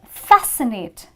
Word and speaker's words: fascinate: again C is silent and Fascinate where again C is silent I'm quickly going to